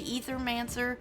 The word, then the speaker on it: Aethermancer: They pronounce the Ethermancer, which technically the A could be silent, but both pronunciations are correct. And it basically depends on what part of the world you come from as to how you say it.